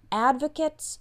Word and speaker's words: advocate: word advocate is pronounced this part is actually pronounced kit advocates for the homeless